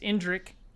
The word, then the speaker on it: Indrik: in in drink indrick that i think that's how it's pronounced indrick once you make the